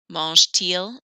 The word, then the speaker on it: mange-t-il: Mange-t-il de la pizza? Oh, notice when I'm pronouncing this, I do hear the letter T more. Normally, you never hear the A-N-T on the end.